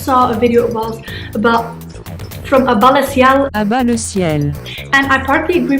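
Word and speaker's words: À Bas le Ciel: À-bas-le-ciel. That's how you pronounce his YouTube name, but his actual name is Eisel Mazard.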